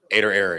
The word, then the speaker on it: Ader Error: thinking about clothing it's it's pronounced or it's pronounced aoo but you can you spell it ad d r and then error ader error yeah oh my goodness